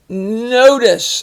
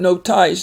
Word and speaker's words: notice: Notice.